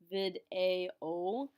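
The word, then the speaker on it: vidéo: video vid a o remember that an accent means that we have to pronounce that vowel separately from the vowels next to it so we can't smash together our e and our o we're going to pronounce them as two different syllables or you can fair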